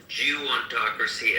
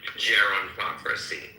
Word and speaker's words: gerontocracy: and he most he most pronounc certainly pronounced geontocracy as if it were government by Jews but in fact I do believe he tried to say gerontocracy yeah obviously he